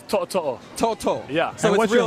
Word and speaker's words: To'oTo'o: It's To'oTo'o.